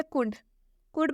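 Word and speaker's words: could: इसे हम कुड पढ़ रहे हैं, इसे हम कुल्ड नहीं पढ़ रहे हैं, इसमें हम लॉ का उच्चारण नहीं कर रहे हैं। क्यों? क्योंकि इसमें एल साइलेंट है, इसे हम कुड पढ़ रहे हैं।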